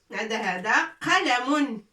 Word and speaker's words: قلم: هذا قلم قلم قلم قلم قلم.